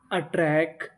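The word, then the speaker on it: attract: अगर आपको इंग्लिश के किसी भी मीनिंग में कोई अक्षर अगर दो बार लिखा मिले तो हम लोग उसका उच्चारण खाली एक बार करते हैं। कितनी बार करते हैं? एक बार। तो मीनिंग क्या बनी? A double T आर ए इसे पढ़ेंगे अट्रै और आगे लिखा है सी अट्रैक्ट टी आई यू एन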